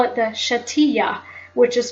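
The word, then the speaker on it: Shetiyah: in Judaism or Hebrew they call it the shatia which is spelled s h e t i y a h shatia so if you type in shatia or you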